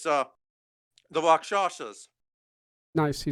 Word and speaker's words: Rakshasa: It's the Rakshasas. Nice, you said it right. Shasa. Yeah. A lot of people have trouble saying it because they expect to say Rakshasa or something, but Rakshasa.